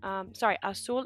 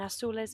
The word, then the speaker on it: azul: The Z is pronounced like an S, so azul, azules.